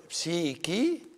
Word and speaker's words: psyche: In every language, this word, psyche, is pronounced with a K.